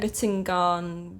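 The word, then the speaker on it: Middengard: Can I ask how they pronounce the name of that worm in the audiobook? Because I was reading it. Mittengarn worm or something like that. The Mittengar worm.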